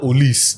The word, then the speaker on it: Olise: The other guy is Michael Olise. The case he said the French pronunciation. Olise.